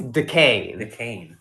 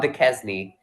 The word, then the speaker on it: Duquesne: It's Duquesne. Duquesne. It's spelled Duquesne.